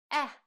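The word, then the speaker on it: э: This is letter E, similar to the sound at the beginning of the word apple in English.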